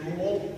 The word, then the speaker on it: Royal: Hello, my name is Eugene Rule. It's spelled with a silent Y, so it rhymes with cool.